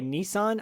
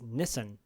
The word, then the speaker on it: Nissan: America by the way Nissan I think is Nissen Nissen really yeah I'm pretty sure there's a Gran Turismo movie coming out and everybody in it is pronouncing it Nissen and I'm like is